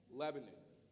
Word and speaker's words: Lebanon: them from there because they call it Lebanon Lebanon you know it spelled the same way but just they they talk like that so it's called Lebanon right and place it in the south it's just two syllables Lebanon so I went